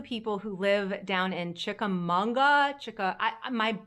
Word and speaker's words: Chickamauga: who live down in Chickamauga my my brain and my mouth want to add an N I know there's no